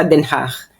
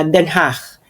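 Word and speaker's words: Den Haag: ko diyan sa sa Denhach. So ngayon yun ang pronunciation na Denhach. So Denhach. So So just feel like you are expelling Flem very lightly and very um soft then ha ganon.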